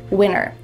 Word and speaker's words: winter: What is happening to the T in the middle of this word? You might hear native speakers say winter with a clear T if they're annunciating clearly and maybe speaking a little slowly. It's fine to do that. But when native speakers speak fast, you're going to hear winner.